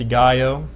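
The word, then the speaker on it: σιγάω: The Greek word silence is pronounced sigaio, for what that's worth, to keep silence, hold one's peace, to be kept in silence, or to conceal.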